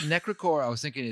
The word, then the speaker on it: Necrichor: And I believe it's probably supposed to be pronounced Necrichor. Okay. Because it's the ichor of evil gods, living blood, or the sludge in the crypt of failed liches.